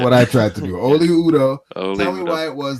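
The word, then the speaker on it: Oli Udoh: Oli Udo. Okay, there we go. I like that a lot better than what I tried to do. Oli Udo.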